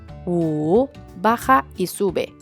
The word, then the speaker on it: 五: with the number one, the “w” and the “u” sound the same, so with the third tone it is pronounced (wu3), it goes down and up.